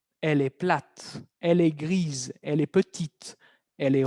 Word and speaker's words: grise: Entonces, el primero, gris. ¿Cómo piensan que va a ser el femenino de gris? Va a ser gris. Gris. Y vamos a escuchar al final una Z.